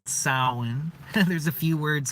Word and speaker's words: Samhain: this video I'm going to be talking about soin aka Halloween it's Halloween today happy Halloween everybody merry soin that's if you're wondering the pronunciation looks like it's supposed to be Samhain but that's actually one of the first things